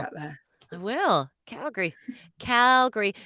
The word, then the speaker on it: Calgary: there i will calgary calgary although it's spelt calgary but never say it that way we say calgary cal gary good morning we're talking